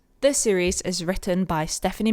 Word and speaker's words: Stephenie: Stephenie. Not Steph with an A. No, Stephenie.